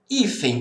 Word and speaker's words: hífen: Hífen. Qual que é a sílaba tônica? É o I.